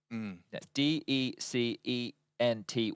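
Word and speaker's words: decenty: t y I said how do we say his name and they were like in English or in Portuguese I said well we're cting in English so like would English and they said just say decent exactly so you could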